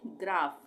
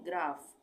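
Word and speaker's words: graph: physics उसी तरह से ग्राफ यहां पे पीएच यहां लास्ट में है तो पी एच एक साथ है तो इसका उच्चारण हो गया फ यानी ग्राफ few phone pharmacy physics ग्राफ और यहां पे और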